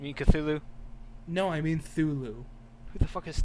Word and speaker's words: Cthulhu: a baby i mean cthulhu no i mean thulu who the is that's how it's actually pronounced children children go look it up because i've had this argument one too many times it's thulu anyway you want to see monsters yeah i